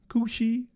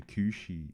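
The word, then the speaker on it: Cù Sìth: oh we get two I think it's pronounced Kushi the Kushi the Kushi because it's spelled like kusith but I think it's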